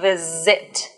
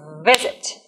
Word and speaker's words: visit: It's not visit. It's visit.